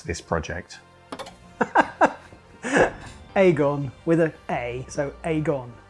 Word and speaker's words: Agon: I would say Aon I pronoun it Aon I pronounce it Aon I think because I just say what I see because I'm from Manchester so it's I believe other people pronounce it differently but I'm sticking with